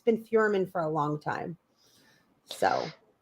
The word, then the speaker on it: Feuerman: Is it Feuerman? Am I pronouncing it right?